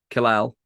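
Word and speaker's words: Kal-El: Kalal is Superman's name. Amazing. That's his. Kyle. You pronounce it Kyle.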